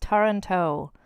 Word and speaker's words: Taranto: So some of the relatives include Philip of Toronto, not Toronto, like Ontario, Canada, but I think it's pronounced Taranto. It's like Toronto, but with A's.